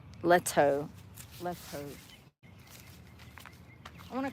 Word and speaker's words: Leto: Jared Leto, that's how you say it. Thank you, Jennifer B. Yeah, Jennifer. Uh, sorry, Jared Leto. Letto Leto.